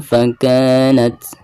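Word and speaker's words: فكانت: Fakanat, bacaan ka dibaca 2 harokat karena dihukumi mad tabi'i. Fakanat. Nah, huruf ta di sini adalah merupakan salah satu daripada huruf al-hamz ya. Maka ketika membacanya harus ada nafas yang mengalir keluar.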